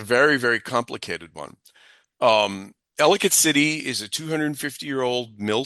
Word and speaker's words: Ellicott: You know people it's people say elicate rhymes with delicate.